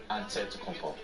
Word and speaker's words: Antetokounmpo: greek way you say with the empty like antetokounmpo whatever you gotta just say you know it